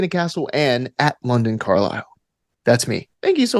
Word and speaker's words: Carlisle: Again, there's like some silent letters in Carlisle. So watch out for that.